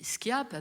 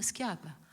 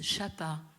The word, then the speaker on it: Schiappa: D'ailleurs, vous savez, l'ex-ministre Marlène Schiappa, je dis Schiappa parce que, attendez, rassurez-moi, il y a des linguistes dans la salle. Le SCHI se prononce bien ski en Corse. Donc Marlène Schiappa. Parce que là-bas, ils disent Chapa.